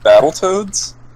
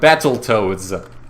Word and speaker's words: Battletoads: No, if it was said the wrong way, it would be like Battletoads instead of Battletoads. You mean when people overly enunciate? Yeah, like they enunciate the second T when you pronounce it more like a D instead.